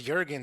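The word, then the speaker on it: Melina Juergens: hell Blade 2 um I think it was Jurgens is how they pronounced it at the game of Jurgens that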